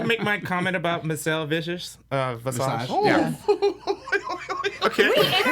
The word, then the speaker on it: Visage: We interviewed her and he said her name wrong to her face. Vicious. I did. Did I say vicious? On purpose? Yes, you did. You said Michelle Vicious.